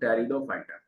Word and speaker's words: Pteridophyta: Heading डालोगे बेटा आप लोग टेरिडोफाइटा, टेरिडोफाइटा। टेरिडोफाइटा में आपके जो है मोस्टली आपके क्या आ जाते हैं, फर्न आ जाते हैं, ठीक है। और टेरिडोफाइटा पी आपके जो है साइलेंट है।